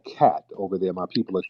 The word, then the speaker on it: khat: pronounced cat.